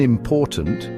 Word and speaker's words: important: For example, in important, The stress is on the second syllable.